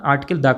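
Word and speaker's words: article: आपको बता डन की कभी भी आप आर्टिकल को आर्टिकल मत पढ़िएगा क्योंकि यहां पर आर साइलेंट होता है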